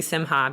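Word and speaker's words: Simcha: So anyway, I'm pretty sure it's Goldie Simha because we were listening to the YouTube. Yes. And that's how they pronounced it.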